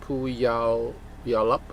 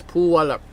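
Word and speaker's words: Puyallup: It's Puyalap. So it's Puwalap. Puwalap. It's an old American Indian name.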